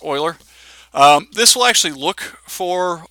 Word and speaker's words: Euler: in here somewhere there it is there's the Euler filter now it looks like Euler it's pronounced Euler this will actually look for extreme differences in